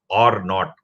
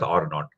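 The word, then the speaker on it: R naught: is generally pronounced as R not okay that zero is pronounced as not so it's generally called as R not in a very simple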